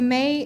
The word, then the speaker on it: me: It's pronounced May, but it's spelled M-E.